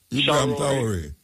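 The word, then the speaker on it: Ibrahim Traoré: Do you pronounce his name Ibrahim for me, please? Traore. Huh? Ibrahim Traore.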